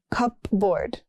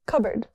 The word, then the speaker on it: cupboard: Next we have cupboard, not cupboard. It's cupboard.